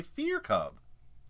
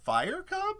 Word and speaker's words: Fire Cub: You say Fear Cub and not Fire Cub? And I was like, shit, it's clearly fire.